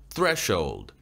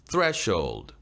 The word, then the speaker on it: threshold: threshold, threshold. 요 단어는요, 문턱, 문지방이란 뜻이죠. sh를 묶음으로 한 번에 발음을 해주는 겁니다. shold, shold, threshold.